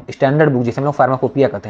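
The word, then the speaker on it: pharmacopoeia: है आपका फार्माकोपिया में, इसका स्पेलिंग ध्यान दीजिएगा आप लोग थोड़ा सा, फार्मा को पी ओ ई आई ए होता है, ठीक है। फार्मा को पोइया टाइप का होता है, ठीक है, मतलब पोइया यहाँ पे होता है, हम लोग फार्माकोपिया शॉर्ट में बोलते हैं, शॉर्ट मतलब इसका प्रोनाउंसिएशन जो है वो फार्माकोपिया, स्पेलिंग पे ध्यान दीजिएगा आप, ठीक है।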